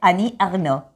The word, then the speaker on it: Annie Ernaux: esta mujer, y Lucía dice, el nombre se pronuncia así, Annie Ernaux.